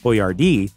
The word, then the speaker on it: Boiardi: jardino dalala in Cleveland Chef boardi started to use a phonetic spelling of his last name boardi so his customers could more easily pronounce it boardi said everyone is